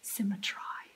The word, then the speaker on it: symmetry: I think you're supposed to pronounce it symmetry to rhyme.